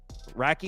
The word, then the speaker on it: Radtke: Racky, that's how you say it?